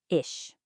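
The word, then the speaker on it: ich: Ish. Listen again. Ish. It's not iick and it's not ish. It's this unique soft airy sound.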